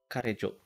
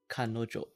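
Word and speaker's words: 彼女: Karejo. No, that's pronounced differently. Kanojo, right? Yes, it's the same. So this is what. Okay, so basically, yeah, like the pronunciation changes the moment like it's been paired with another kanji. So it's Kanojo.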